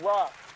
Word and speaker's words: Ross: Is it Ras or Ross? How you say it? It's Ross. Ross, go ahead.